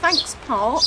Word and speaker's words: Thankes Park: very lucky to have the park it's called thanks Park how do you spell that it's t h a n c k